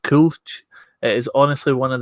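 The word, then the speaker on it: Kölsch: was in cologne and i drank um it's pronounced coach it is honestly one of the best beers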